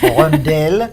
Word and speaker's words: rondelle: call rondel well it it comes from the French uh from the French word of course rondelle if we really want to pronounce it like the French do uh but rondelle means